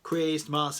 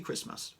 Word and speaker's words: Christmas: in which they said Christmas and they kind of like stressed those two syllables was like, we don't say Christmas, we say Christmas.